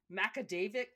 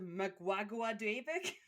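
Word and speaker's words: Magaguadavic: Did I know that it was pronounced macadavic instead of muaguadic?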